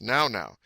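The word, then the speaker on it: nau-nau: now now na na which is pronounced now now they are certainly welln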